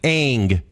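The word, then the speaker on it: Aang: If you went to China and you were like Ang, they'd be like, it's Ong, right?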